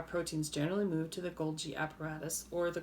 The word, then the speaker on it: Golgi: used gold guy and even though it's not pronounced gold guy bodies it looks like